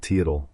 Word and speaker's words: Teotl: Bryant neglected to address the fact that the Mexicans had Teotl, pronounced Teot.